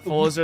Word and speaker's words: Forza: It's Italian, so Forza is pronounced Forza.